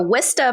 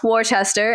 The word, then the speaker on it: Worcester: Director of Transportation for Worcester Public Schools in Massachusetts. It is not Worcester, as it is looks like it is spelled, so I got that lesson a little earlier.